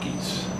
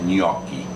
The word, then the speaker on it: gnocchi: they're not genocides they're nakies no they're not nokies they're uh nokies new keys i've heard so